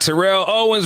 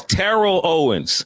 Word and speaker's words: Terrell Owens: It's Rick and Sasha with George Wilborn, and we got Terrell Owens with us, y'all. T.O. Hey, T.O. I was gonna say that too because I saw you check somebody and you said it's Terrell Owens.